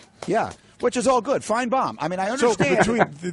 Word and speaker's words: Finebaum: It's pronounced as though the second syllable is B-O-M-B, right? That's a Southern thing. We like bombs. Yeah. Which is all good. Finebaum.